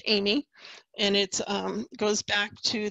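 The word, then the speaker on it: Amis: Even though it's A-M-I-S, it's a French name, and it's pronounced Amy.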